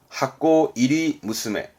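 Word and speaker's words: 箱入り娘: 발음은 하코 이리 무스메.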